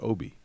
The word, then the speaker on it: Obi: but it's OB I but his name is pronounced Obie yeah um OG an anobi OG is not